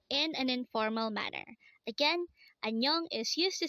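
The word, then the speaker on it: 안녕: you in an informal manner next word is annyeong again it's annyeong this is used to say hello or goodbye in an informal manner again anyong is used to say hello or goodbye in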